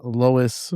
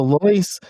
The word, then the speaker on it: Lois: I've been saying Lois for the past couple weeks and so now it's it the correct name is it pronunciation is Lois. Lois Arterberry. So, Loyce um Arteberry is the University of Minnesota's women's tennis coach.